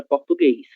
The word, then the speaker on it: português: A mesma coisa vai acontecer para a palavra português.